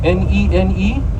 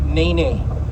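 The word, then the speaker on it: nēnē: It's spelled N-E-N-E, but it's pronounced ne. The soft eh sound. Remember, ah-eh, right? Not nene. No. We're not a shenane, you know. Nene, no. It's nene goose. The soft eh sound. Nene goose.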